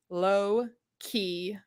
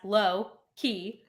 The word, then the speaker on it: Loki: better to read it, because like on paper, Low-key Lysmith, the way it's spelled, you might be like, okay, that's Loki, but you also could easily not.